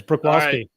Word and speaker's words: Bruch: before we talked but let me try that's pretty darn good yeah it's Brooke all right so Troy